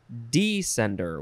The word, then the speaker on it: descender: wow descender uh and you could also pronounce it descender with the emphasis on the D descender descender noun from 1802.